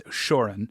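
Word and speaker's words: Ushoran: I thought the R was earlier, but it's Ushurin.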